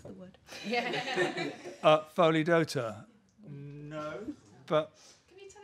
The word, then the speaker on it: Pholidota: See, and I can't remember how to pronounce the word. Yeah. Pholidota.